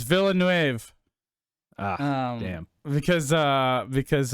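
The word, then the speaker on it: Villeneuve: dude i wanted to talk about pronounced villanu is it not villanu no it's villanuev uh damn because uh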